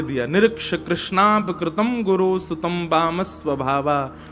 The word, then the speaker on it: कृष्ण: इसीलिए हम कथाओं में कहा करते हैं कि भगवान का नाम उच्चारण करना है तो कृष्ण बोलो, कृष्ण। और यदि द्रौपदी का उच्चारण करना है तो कृष्णा बोलो, अकार आ की मात्रा लगाओ।